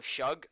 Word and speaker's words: Suge: __ ] there's a lot of sh oh shug there's a lot of chug nights in the